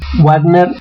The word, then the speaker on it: Wagner: como G whisky whisky si provienen del alemán se pronuncia como B Wagner r y do r